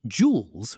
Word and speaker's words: jewels: And jewels rhymes with tools. Round your lips for that long ooh sound.